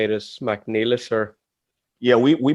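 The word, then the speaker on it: Mac Niallais: So when you see it that way, you understand why it should be pronounced Mcneilless.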